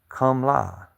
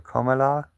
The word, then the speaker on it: Kamala: Greenwich says in India it's pronounced Kamla, like Kamla or Komala, and I guess it's an Indian name. It means I thought it would be Kamala.